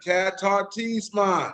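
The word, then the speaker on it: katartismon: N, Qatar, Tisman.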